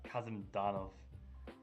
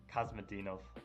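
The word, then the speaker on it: Kasimdzhanov: Serouan against former world champion Kazimdanov. Kazmadinov, I would sometimes say, but I realize I'm saying it wrong.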